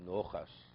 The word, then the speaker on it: Nachas: Yeah, but if you're Russian, you don't say nothing. You say Nochas. Say, you really pronounce the komats.